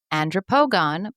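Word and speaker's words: Andropogon: Okay, now I said, "Do you have any andropogan Blackhawks?"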